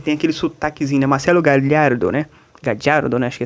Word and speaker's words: Gallardo: Vamos começar falando, por exemplo, sobre, né, o Marcelo Gallardo, né, que é o treinador do River Plate.